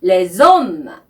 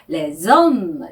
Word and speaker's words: les hommes: Ou les hommes qui n'ont plus le temps de passer le temps. 네, 문장이 좀 복잡해 보이는데요. ou는 혹은 또는 이라는 뜻의 접속사입니다. 그리고 les hommes.